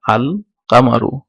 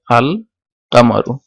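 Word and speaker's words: القمرُ: তো এখন এই এই এই দেখেন এগুলাতে একটু পার্থক্য, যেটা হচ্ছে আল কামারুর বেলায় আল উচ্চারিত হয়েছে এবং শামসের বেলায় আল উচ্চারিত হয় নাই।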